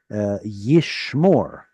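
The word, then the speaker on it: יִשְׁמֹר: So that's why we have, like, for example, yishmor. Yishmor. There's your E-O sound.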